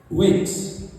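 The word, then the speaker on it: Raikes: 1780 par un journaliste anglais qui est Robert Wakes. Alors, ma Robert comme Robert Wakes, c'est R-A-I-K-E-S. Je ne sais pas si vous prononcez bien, Wakes.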